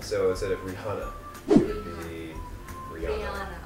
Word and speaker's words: Rihanna: R. I. H. A. N. N. A. Good. But you know the H is silent, right? It's silent? Silent. So instead of Rihanna, it would be Rihanna.